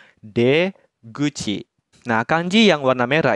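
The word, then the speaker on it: 出口: mulut dibacanya Gucci jadi kanji ini itu dibacanya D Gucci nah kanji yang warna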